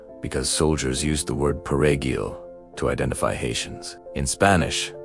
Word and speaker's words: perejil: soldiers used the word perejil to identify Haitians. In Spanish, the word requires a rolled R sound, which is difficult for Haitian Creole speakers to pronounce.